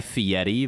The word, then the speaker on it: Fieri: thing about about him actually pronounced a Guy Fieri but it's spelled Fieri yeah yeah he's a